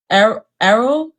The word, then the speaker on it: Arul: Arul.